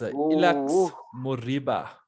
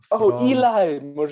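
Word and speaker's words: Ilaix Moriba: Okay, the next one is, and excuse me for the pronunciation of this one, it's Ilax Moriba. Eli Moriba.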